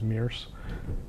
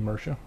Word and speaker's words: Mersha: I was actually mispronouncing the name as Mears. It's actually Mersha, which I've learned, so there's that.